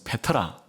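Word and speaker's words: πέτρα: 반석위에 내 교회를겠다 이래서 베드로라 말은 이제 발음을 제대로 하면 페트로스 어 이런 뜻이고요 반석이란 것은 페트라 이런 단어입니다 그러니까 너는 페트로스 근데이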